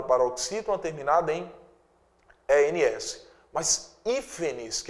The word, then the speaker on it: hífenes: E aqui eu tenho hífenes. Tiago, hífenes é uma palavra acentuada? É paroxítona acentuada? Não. Veja só. Hífenes, a sílaba tônica é a antepenúltima.